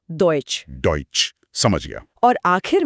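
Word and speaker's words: Deutsch: और ई यू और ए यू, इन दोनों का उच्चारण ऑय होता है। दोनों का? हाँ, दोनों का। जैसे यूरोप को ऑयरो बोलेंगे और डॉइच को डॉइच।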